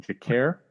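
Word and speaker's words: Jacaré: Jacare.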